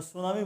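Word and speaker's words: tsunami: পর্যন্ত এসে থেমে যাচ্ছেন জাপানি ভাষায় যেটাকে টি সুনামি বলা হচ্ছে বানানে উচ্চারণে সেটাকে আমরা সুনামি বলছি অর্থাৎ টি বাদ দিয়ে দিচ্ছি এভাবে ম্যাডাম শব্দটি ইংরেজিতে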